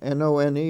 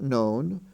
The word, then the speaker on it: none: have none and done n-o-n-e is pronounced none not known d-o-n-e is pronounced done